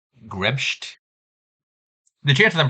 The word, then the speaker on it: grebst: By the way, Grebst C is from an area in Germany where you pronounce her name like Grebst.